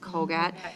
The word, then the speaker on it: CogAT: And then they have the COGAT, is that how that's pronounced? COGAT?